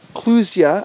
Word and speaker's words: clusia: But they're called clusia, I believe is how you pronounce it, C-L-U-S-I-A.